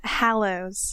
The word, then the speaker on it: Hallows: doing it wrong yeah Hallows Hallows Hallows Hallows not hollow like a hollow in a child I never see hollow